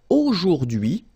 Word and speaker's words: aujourd'hui: So the first one, A-U-O, jour, and then dui, okay? H is not pronounced, so you only get this dui thing.